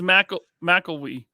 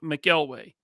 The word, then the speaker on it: McElwee: doesn't here's the deal his last name is mcelwee yeah okay we've been mispronouncing this guy's last name for a very long time and it's not my fault it's because back in the day right Tony always read his chat as Jeff mcelway right and so that's